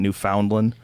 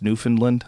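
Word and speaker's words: Newfoundland: was in New Finland I know how to say it now because people got mad at me cuz I said oh we calling it New Foundland I guess it's New Finland they probably cor correct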